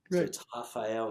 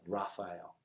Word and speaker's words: Rafael: a port it's portuguese it's pronounced like a portuguese you know language which the r has an age sound right rafael instead of raphael right look i'll be